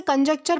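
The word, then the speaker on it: conjecture: तो दोस्तों आज का हमारा सबसे पहला वर्ड आता है कॉन्जेक्चर। दोस्तों इसे कंजेक्चर प्रोनाउंस किया जाता है, जिसका मतलब होता है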